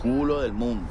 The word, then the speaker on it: culo del mundo: It's pronounced culo del mundo. You should try that. It's culo el mundo.